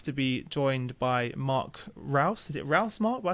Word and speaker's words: Reuss: Yeah, it's if you're in the UK, it's if you're in Germany, so either one is fine.